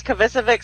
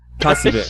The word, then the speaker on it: Kovacevic: Does Kovacevic sound right? Sure. Kovacevic.